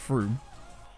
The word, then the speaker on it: Frome: I guess I could call it Frome, couldn't I, instead of Froome?